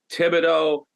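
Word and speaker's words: Thibodeau: to know Tom Fido Tibido when you lived in Rumford Maine there were 100 tibidos that's how you pronounced it when I came down everybody kept saying thogo what are you talking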